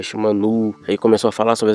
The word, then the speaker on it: Shimano: Quando a Shimano veio com aquele papo de, ah, meu nome não é Shimanô, é Shimanu.